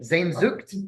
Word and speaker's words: Sehnsucht: Spell that, please. Nope. No. Can you say it's like Znzucht, maybe. Okay. Sehnsucht.